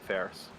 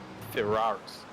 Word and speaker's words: Ferraris: That's a 1.4 second from Philip Morton to Dominic Ferris. Ferraris. Gosh, I've been pronouncing that wrong this whole night.